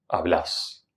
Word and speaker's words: hablás: Paso número tres, finalmente agrego. En la última sílaba. Hablás.